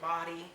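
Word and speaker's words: Bawdy: at dota body um the body is both b-a-w-d-y a lot of people like to pronounce it body all right um yes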